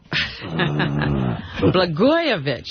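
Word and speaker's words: Rod Blagojevich: Rod Rodgoyovich is how you say his name.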